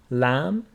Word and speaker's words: lamb: And B after M is not pronounced. Thumb, limb, lamb.